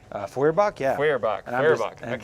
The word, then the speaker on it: Feuerbach: And then up front, we have a proxied crit Kokram with a, how do you pronounce it? Furbach? Feuerbach, yeah.